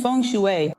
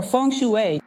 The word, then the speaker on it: feng shui: I mentioned feng shui, or feng shui, as you prefer to pronounce it.